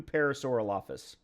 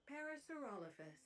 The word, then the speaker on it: Parasaurolophus: Let's do parasaurolopus. Parasaurolophus. Parasaurolophus. Okay. Yep. I've been pronouncing that wrong.